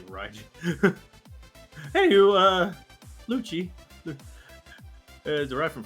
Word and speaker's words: Raijin: See, you're going a little bit too much L. It's more R. You're pronouncing an R. You just position your tongue as if it's an L. Raijin.